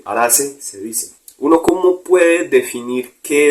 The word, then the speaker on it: Araceae: Araceae se escribe, Araceae se dice.